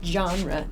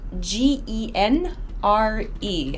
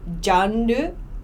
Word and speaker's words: genre: can you see it genre uh it's uh it's g-e-n-r-e sorry my writing's a little messy this is pronounced genre genre it makes that ju sound so not like jandu so or not like